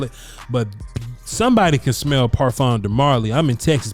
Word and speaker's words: parfum: They don't want to just say eau de parfum. They don't want to just say they want to say eau de parfum. Parfum. The M is silent.